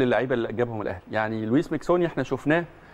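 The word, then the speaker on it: José Luís Miquissone: يعني لويس ميكسوني احنا شفناه، او خوسيه لوي ميكسوني زي ما اسمه بيتنطق، يعني شفناه واحد من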